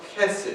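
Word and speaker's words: חֶסֶד: It's pronounced chesed. Can you say that? Chesed. It's supposed to be that guttural, I was hoping I didn't spit on anybody here in front.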